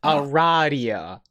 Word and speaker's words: Aradia: It is pronounced Aradia. Okay.